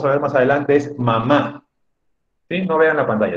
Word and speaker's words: mamá: amo a mi mamá mamá que se refiere a madrid ánimo de madre es una palabra que lleva tilde y que lleva la rayita en la última vocal en la última a mamá pero también existe la